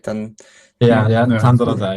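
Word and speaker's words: Tandaradei: And I don't even know how to pronounce it. Tandaradai. Tandaradai, yeah, perfect.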